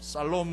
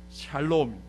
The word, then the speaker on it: 샬롬: 발음 잘 하셔야 돼요. 살롬 하지 마면 안 돼. 앞에 무슨 이렇게 이상한 말 겹치면 창피해집니다. 샬롬. 샬롬. 예루살렘 할 때 그 살렘은 샬롬입니다.